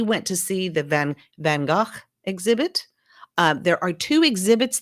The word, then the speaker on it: Van Gogh: gogh and a lot of people call him van gogh it's okay it's really van gaach was the pronunciation but um most people know him about